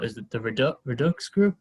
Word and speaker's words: Redux: um his team is called is it the redux group how do you say it regardless redox yes okay redux group uh which sold uh